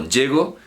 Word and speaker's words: llego: Como llego, llegó, pues ahí el acento es fonemático, es un fonema.